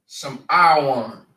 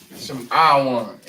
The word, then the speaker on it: Lashawan: And we pronounce them as Lashawan. Lashawan.